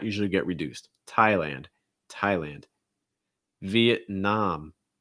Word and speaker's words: Vietnam: get reduced thailand thailand vietnam vietnam stressed last syllable the nom and again you have that ah sound um vietnam awesome and